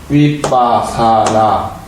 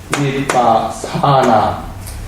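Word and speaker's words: vipassanā: 길게 바람을 해 되겠죠 바사나 이렇게 돼 번 발음을 해 볼게 위빠사나 위빠사나 위빠 사나 어떻게 생각해요 거 이렇게 돼요 그래서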